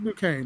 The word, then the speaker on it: Duquesne: know yeah oh the the s is silent okay buddy you know do it do whatever you got to do uh oh you're right it is new kane it's french oh it's french oh